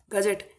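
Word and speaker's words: gazette: इस चीज को आगे भेजिए फर्दर अगली कार्यवाही गजेट जी ए जेड E double T ई इसकी स्पेलिंग होती है जी ए जेड ई डबल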